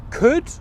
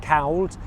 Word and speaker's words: could: You don't pronounce the L sound in that word at all. So it's not pronounced could or anything else like that, cowled.